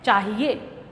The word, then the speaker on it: चाहिए: शुद्ध रूप में हम ह के ऊपर छोटी ई की मात्रा लगाते हैं और शब्द का उच्चारण हो जाता है चाहिए।